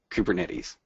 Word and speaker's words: Kubernetes: like ketes uh but this is a software project from the west coast of the United States and so we say kubernetes so you just kind